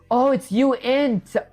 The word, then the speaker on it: uint: You're still pronouncing it wrong. It's not unit. It's uint.